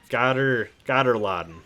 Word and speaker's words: Gatter-Laden: Yeah, Gatter-Laden, that's how you say that, was against the edge of the map.